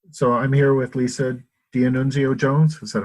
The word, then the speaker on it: D'Annunzio Jones: So I'm here with Lisa D'Annunzio Jones. Is that how you pronounce it?